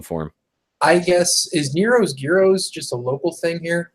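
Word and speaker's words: gyros: no they we pronouncing there's no G it they spell it with the G there's also smells gyro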